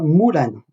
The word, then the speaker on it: Mulan: décidé de baptiser Mulan, on prononce en chinois Mulan, comme s'il y avait un O devant le U. Nous on dit Mulan, hein, c'est la version française.